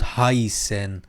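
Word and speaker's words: heißen: چه جوری تلفظ میشد هاسن های س مشدد ان هاسن یعنی چی یعنی نامیده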